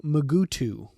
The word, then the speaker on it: Mugato: pronouncing the name and the name does change from scene to scene from mugato to magutu as you watch this episode you'll notice that various characters pronounce it differently each time it is said in this scene